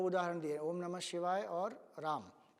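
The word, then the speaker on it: ॐ नमः शिवाय: तो जैसे ओम नमः शिवाय जगह अगर हम कहें ओम नमः शिवाय, ये उसका प्रोनाउंसिएशन है। तो न स्वरित होगा, म ऊपर जाएगा, शी नीचे आएगा, व स्वरित होगा और य ऊपर जाएगा।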